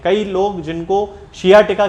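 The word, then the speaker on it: sciatica: खास तौर से जो पेशेंट हैं वो हमेशा सियाटिका को साइटिका बोलते हैं। तो ये साइटिका एक जनरल प्रोनाउंसिएशन अब इसका बन चुका है, वैसे यदि देखा जाए तो इसको सियाटिका कहना चाहिए।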